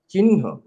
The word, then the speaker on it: চিহ্ন: যেমন চিহ্ন শব্দটি কিভাবে উচ্চারণ করব, আমি দুই ভাবে জানি, দুই রকম করে জানি। চিহ্ন বলা হয়েছে, কিন্তু আমি যেটা অনুসরণ করি পরের নটে হ দেওয়া হয়, চিহ্ন, এটাকে আমি মানি।